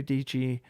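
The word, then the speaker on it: Dietschy: her thing is uh sara dg rhymes with peachy and her her whole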